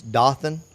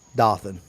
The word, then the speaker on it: Dothan: Um Dothan is it's it's Dothan. Okay. Do O T H A N. It's it's Dothan for you guys up north.